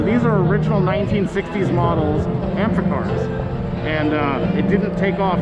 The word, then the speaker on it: Amphicar: Amphicar. Like amphibian car. Like amphibious car.